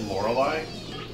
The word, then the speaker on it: Lorelei: Didn't he say it Lorelei? I mean, that's how it's pronounced, right?